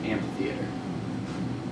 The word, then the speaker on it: amphitheater: it how's it spelled Ampitheater Amphitheater right spelled an so we don't like the Dual aspiration there so we drop in pronunciation the H and we just pronounce it Amphitheater the Greeks do the